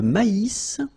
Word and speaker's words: maïs: Et le maïs. So here you get this tréma. So maïs. Maïs. And then you pronounce the final S.